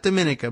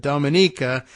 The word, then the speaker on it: Dominica: island of uh oh yeah how do you pronounce it again it's uh Dominica right not Dominica but Dominica that is best known it says here for